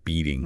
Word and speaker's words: beating: And beating has that softer t sound, so it's more like beating.